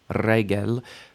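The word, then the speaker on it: רגל: Regel, initial stress, right? We see our segol there, so it's regel, leg or foot.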